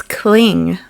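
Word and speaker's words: Tlingit: He said and had No, it's cling. Like clingy. Yeah. So, the T is kind of like a K. So, cling.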